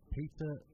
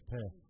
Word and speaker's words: Per: Peter Links. Oh, I can't pronounce that. Linz. It's not even Peter, it's Per.